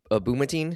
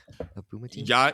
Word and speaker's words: Abdul-Mateen: the the actor Yahya Abdul-Mateen, is that how you say it? Abdul-Mateen? Yahya Abdul-Mateen. Abdul-Mateen. Yeah. Yeah, it's it's actually You can it kind of reads the way it looks.